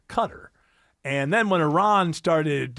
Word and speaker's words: Qatar: But I had known for a fact, in my mind, that it is pronounced Qatar.